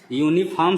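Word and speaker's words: uniform: यूनिफॉर्म हम देख रहे हैं, यूनिफॉर्म शुरू हो रहा है लेटर यू से, यानी इसका फर्स्ट लेटर यू है, लेकिन इसका उच्चारण किससे हो रहा है?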